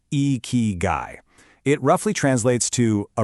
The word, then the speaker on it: ikigai: You say it like eeky guy.